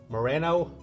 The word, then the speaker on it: Moreno: You can say it Moreno. The thing, you got to remember More. The first four letters is more.